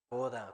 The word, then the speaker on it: 보다: mirar, ver, se llama 보다, Boda, como se pronuncia como boda de algún casamiento.